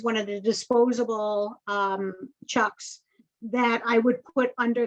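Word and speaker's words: Chux: with the blue uh i'm not sure how to pronounce the word nancy paladin uh c-h-u-x oh with the chucks okay okay all right that is how you say it all right i i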